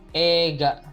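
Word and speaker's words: 映画: ada kata Wega nah ini dibacanya bukan eight ya walaupun tertuliskan eiga cuma kita membacanya Wega jadi ketika vokal eh dilanjutkan dengan vokal idalam satu kata seperti ini eight itu kita membacanya eeee3 panjang ya Jadi bukan dibaca Ega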